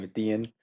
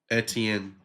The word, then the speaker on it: Etienne: Ethian. Etienne.